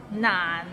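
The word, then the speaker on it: 難: I eat an orange Nan it's N N means difficult and it's difficult to pronounce so it start with n and ends with another n n and it's in a low tone so n practice and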